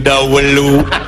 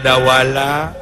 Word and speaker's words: Dawala: Jeung Dawelu ngomong teh bet kieu wae atuh. Atuh letah teh bet kacida teuing. Dawelu. Salah wae letah teh. Ngeulah ngejaan atuh nya bener teh. Jeung sahadeun. Padahal Dawala.